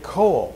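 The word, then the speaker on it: Caol: Just say coal, like lump of coal, and Isla.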